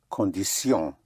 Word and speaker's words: condition: Condition would be condition. The T-I-O-N and S-I-O-N is pronounced sion. You don't have the sh sound, the English sh, shin, but sion.